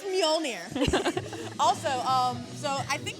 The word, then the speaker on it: Mjolnir: let's first of all it's spelled with an m and a j and it's mjolnir but don't go by the spelling it is not majoliner i mean unless you